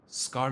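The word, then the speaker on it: Scarmiglione: had opened scaron ah the g is silent scaron that's how he just pronounced it they sensed it and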